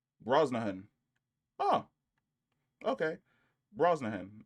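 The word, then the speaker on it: Brosnahan: Bro name pronunciation. Let's see what this sounds like. Broahan. Oh, okay. Broahan, it's instead of an S, it's a C.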